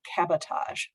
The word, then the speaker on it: cabotage: Yeah, I pronounced it that way because when I looked it up on Wikipedia, the very first line was not to be confused with sabotage.